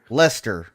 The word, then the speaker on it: Leicester: You're close. It's Leicester. Lester.